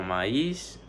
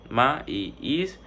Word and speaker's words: maíz: Se divide en dos, que sería maíz, ma y is. La i lleva tilde, entonces se separa de la vocal anterior.